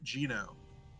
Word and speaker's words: Geneaux: Well, simply put, that's Sin Spawn Geno, baby. Gino? That's Yeah. how you say it? Mhm. Alright. Correct answer is Gino.